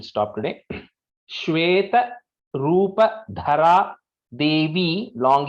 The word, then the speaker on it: देवी: So Devi is a long E here. Maheshwari Vrisharudha Kaumari Shikivahana Lakshmi Padmasana Devi Padmahasta Haripriya.